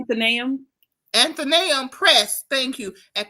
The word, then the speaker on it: Athenaeum: at Coastal Carolina University, and also I'm gonna pronounce it all kind of wrong. Athenaeum Press. Athenaeum. Did I say that right? Athenaeum.